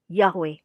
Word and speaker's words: Yahweh: main tebak mereka punya argumen yang kuat Kenapa pelafalannya adalah Yahweh Nah kita lihat sejarahnya dulu ya dalam bahasa